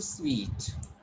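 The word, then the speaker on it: suite: to call it suit, but instead of this, it will be pronounced sweet. Okay. And sweet, the word which you just see like this. that is also sweet. But this sweet and this pronunciation is different.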